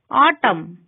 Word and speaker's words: autumn: N is not pronounced when it comes after M at the end of a word. Autumn.